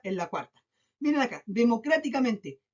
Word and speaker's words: democráticamente: Miren acá, democráticamente, democráticamente, 7 sílabas. Veamos dónde se carga la voz. Última, penúltima, antepenúltima, antepenúltima, antepenúltima. 1, 2, 3, 4, 5. En la quinta sílaba. O sea, después de la tercera sílaba, siempre que se cargue la voz ahí, van a ser sobredrújulas.